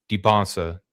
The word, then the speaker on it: Dybantsa: The pick and roll sets are weird because AJ Dybantsa clearly, or Dybantsa, that's what they were talking about on the commentary today. That's the proper way how to say his name.